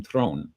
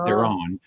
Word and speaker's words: Theron: jump ahead, is that in South Africa you pronounce her last name Throne, and South Africans apparently really laugh when they hear the North American pronunciation of Theron, and giving it like 2 syllables when it's really just the one.